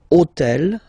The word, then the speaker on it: hôtel: took on purpose this hôtel, okay, because it starts with H, but remember that in French we don't pronounce H. Okay, so basically the first sound of the word is the vowel O.